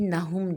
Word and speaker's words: نہم: ہوں اور یہ میری نہم جماعت کی کتاب ہے۔ بہت سارے طلباء 9ویں کو 9ویں کہتے ہیں، جو کہ غلط تلفظ ہے۔ 9ویں جماعت۔ میں 9ویں